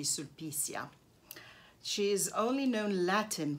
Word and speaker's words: Sulpicia: This is a Roman poetess, Sulpicia, probably, if you pronounce it in Italian. And but in Latin, I think it would be Sulpicia.